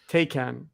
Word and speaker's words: Taycan: Porsche's all-electric vehicle that I don't know how to pronounce it. Is it Taycan? Taycan? Okay. Taycan is outselling the flagship 911 sports vehicle.